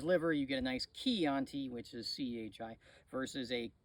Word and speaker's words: Chianti: beans and somebody's liver you get a nice key anti which is chi versus a uh anyway uh